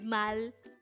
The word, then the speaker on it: 말: hango word number 237 this is pronounced as just one syllable word pronounce it with me the word mal is the korean term